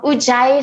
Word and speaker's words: ujjayi: your nose also works is it pronounced ujjaya or yujaya um ujjayi so it's u-j-a-y-i i might have that